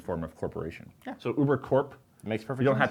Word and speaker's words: Ubercorp: know, Ubercorp, and you pronounce the P because it stands for corporation, not like military corps.